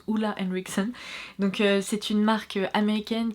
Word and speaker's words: Ole Henriksen: C'est donc un produit Ole Henriksen ou Ole Henriksen, je suis presque sûre que ça se prononce Ole Henriksen.